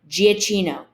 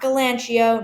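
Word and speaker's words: Giacchino: giaccino yes that's how you say his name giacino not galanchio not g aquino michael giaccino i i'm going too far with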